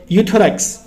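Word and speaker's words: Euthyrox: उसका नाम क्या है यूथस यहां पे गाइस ई साइलेंट है सिर्फ यू पढ़ते हैं हम थायरॉक्स 100 के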